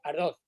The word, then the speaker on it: Ardoz: los Estados Unidos en Torrejón de Ardos se pronuncia, ¿verdad? Sí, Ardoz.